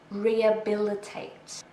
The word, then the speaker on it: rehabilitate: So we don't really say the H. Rehabilitate. We stress the third syllable.